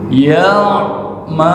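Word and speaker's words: يعملون: Ya'malun pakai ain itunya bukan pakai hamzah. Kalau pakai hamzah bacanya yaun. Tapi karena di depan ada ain ya'malun.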